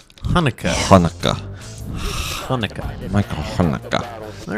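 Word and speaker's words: Haneke: yeah he's he's German and his last pronoun it's spelled h a n e k e Hanukkah Hanukah Hanukah Michael Hanukah all right anyway I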